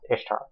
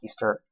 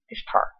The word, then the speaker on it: Ishtar: Okay, first off, it's pronounced Ishtar, not Easter, Ishtar.